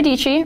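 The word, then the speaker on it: Dietschy: My name is Dici, rhymes with Peachy.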